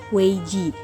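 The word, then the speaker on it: 危机: krisis yang berarti keputusan dalam bahasa Cina krisis diucapkan dengan weij dan mempunyai dua arti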